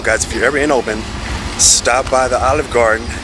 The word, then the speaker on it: Oban: And it's Oban. I think I've been saying it a little wrong. We have the name, and it's just a great meal. Guys, if you're ever in Oban, stop by the Olive Garden.